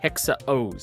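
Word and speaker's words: Hexa OOO: This is Common Rider Hexa O's. It's spelled with six O's or O's, but it's pronounced hexa O's.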